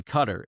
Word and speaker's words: Qatar: You know, it's when I I worked in Pittsburgh for a while and um we were bringing in Cutter Airways and it would always go back and